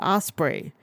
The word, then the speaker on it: Ospreay: individual people and be like hey it is Osprey if you never want your name to be mispronounced there is no reason why you should